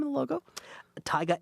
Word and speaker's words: Tiga: name of the logo Tiga a tiger the silent r on the back end so that's right a